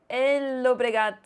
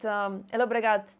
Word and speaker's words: Llobregat: I am right now in Spain and I am participating in the Llobregat. I know I should not pronounce the L's, but Llobregat Chess Open.